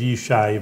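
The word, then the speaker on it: ישי: yes you know you're a Hebrew name for the viewers that's how you say it's biblical David's father's name was yesai but Jesse yes I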